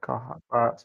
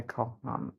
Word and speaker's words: Koha: Koha. Matt likes to call me Kohan. He likes to add an N.